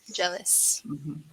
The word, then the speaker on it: jealous: awesome yeah could you help me with the pronunciation uh uh the word gelaos celosia right jealous jealous yeah to be so jealous it's different